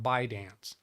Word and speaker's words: ByteDance: I only ever heard it on a news article talking about ByteDance. Never heard them pronounce the T.